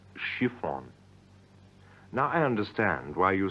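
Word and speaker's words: шифон: chiffon the material looks like Shon but is pronounced shifon shifon now I understand why you say on and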